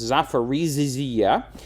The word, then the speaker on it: Zaporizhzhia: But then there's this other place called, I can't quite pronounce it, it's got too many ZHs in it, but it's Zaporizhzhia.